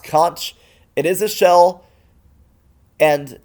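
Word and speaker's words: xonsh: is an alternate shell X OSH is conch pronounced conch.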